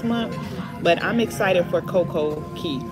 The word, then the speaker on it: Coco Cay: Oh, I thought it was Coco Key. They say it's Key, even though it's spelled C-A-Y. But then why do we say have a perfect day at Coco Cay?